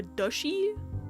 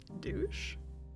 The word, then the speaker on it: duchy: Duchy, okay. It's duchess, that makes sense. Unfortunately, I'm like, douche?